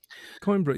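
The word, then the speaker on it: Coimbra: I hope I'm pronouncing that right coinbra.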